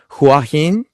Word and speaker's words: Hua Hin: I'm excited because Sean's moving to a town in Thailand, and correct me if I'm wrong on the pronunciation, Sean. Hua Hin.